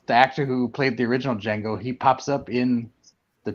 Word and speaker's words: Django: doesn't the JSI or the D is silent true story Quentin Tarantino